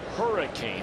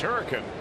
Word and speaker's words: Hurricane: came into the game, I had made the mistake of saying he was from Hurricane. That's the way it's spelled, Hurricane, West Virginia. When in actuality, that's not how they pronounce it in West Virginia, correct? Hurricane. Hurricane.